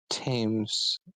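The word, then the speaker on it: Thames: it does um this curse they that s tames tames tames spoke of it is it is spelled themes but I think yeah like TS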